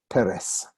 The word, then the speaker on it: Peres: name of shimon peres and you're not surprised anymore that a word with two cigars like that two vowels is going to be accident on the first syllable like my name this